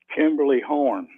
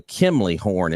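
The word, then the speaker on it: Kimley-Horn: that's helping with this so there you go Kimberly horn yeah it's it's actually I'm gonna spell it for it's a kimley horn it's k i m l e y horn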